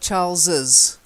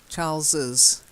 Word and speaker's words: Charles's: extra little E in there so you've got Charles's Charles's okay the wife's tarsus who's married to Charles